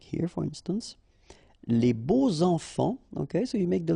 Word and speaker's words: beaux enfants: And here it's quite interesting because even if you've got this X, well, phonetically it will be like Z, so like if it would be an S, okay?